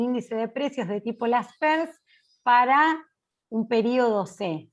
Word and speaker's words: Laspeyres: índice de precios y la l es por las pers se escribe laspeyres con y en el medio y fue el creador